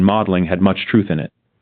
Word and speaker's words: Magdalen: Oliver Stanley's witticism that the party had become all Eton and Magdalen, pronounced Eden and Maudling, had much truth in it.